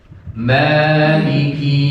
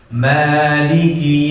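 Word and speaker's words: مالك: Maliki Yaumiddin. Maliki Yaumiddin. Maliki Yaumiddin. Maliki Yaumiddin. Sering terjadi kesalahan di Maliki kinya panjang. Maliki Yaumiddin. Nah ini sering terjadi kesalahan, itu kesalahan fatal. Jadi kinya pendek ya.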